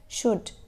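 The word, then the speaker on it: should: में B silent है शुड शुड में एल साइलेंट है ठीक हो हो गया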